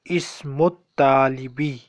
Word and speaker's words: اسم الطالب: So اسم الطالبي. اسم الطالبي. الف لام is silent. Because تا is حروف شمسي.